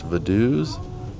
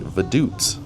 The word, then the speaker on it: Vaduz: on this tour is the name of the city is not pronounced Vaduz, but actually Vaduts. And after about 35 minutes, we come back towards the center of Vaduz and our tour it comes to an end.